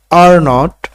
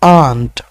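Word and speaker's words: aren't: এম নন্ট এন্ট ইজ not isn't isn't isn't আর নট আর ননটের কিন্তু দুটো উচ্চারণ রয়েছে একটা ব্রিটিশ একটা আমেরিকান আপনি যদি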